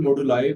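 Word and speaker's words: moduli: ठीक है, इक्वल मॉडुलाए भी आप प्रोनाउंस कर सकते हो, इक्वल मॉडुले भी आप प्रोनाउंस कर सकते हो।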